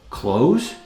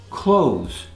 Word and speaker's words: clothes: Clothes, article of clothing you wear. Clothes. Sometimes it's pronounced clothes, which is proper, but many people say clothes. It's very common, both ways are fine.